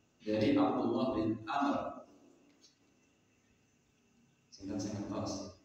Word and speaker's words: Amr: yaitu Sur selanjutnya Abdillah Amr dari Abdullah bin Amr singstosi Kok bisa dibaca am bukanak padahal tidak ada harakatnya to enten Ti Niki nek enten wawune niku bacanya Amr Kalau tidak ada Wu